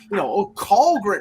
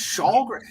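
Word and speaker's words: Källgren: It's Kallgren. No, it's Shalgren.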